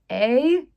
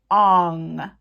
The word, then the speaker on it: Aang: It's spelled A-A-N-G. How would you pronounce that besides Aang? But no, M. Night Shyamalan decided that it should be pronounced Ong, like O-N-G.